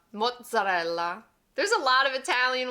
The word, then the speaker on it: mozzarella: And it sounds a little straightforward, but most people forget that double Z, which gives it a little zing. I've heard this pronounced a lot of different ways, ranging from mozzarella, mozzarella, muzzi.